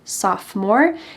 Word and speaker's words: sophomore: If you are in 10th grade, you're a sophomore. Notice that the O in the middle of this word is silent, sophomore.